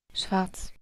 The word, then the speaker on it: schwarz: todas son de Alemania esta no está pronunciando la r sería esta pronunciación pasa de la A a la t y la s schwarz schwarz schwarz esta lleva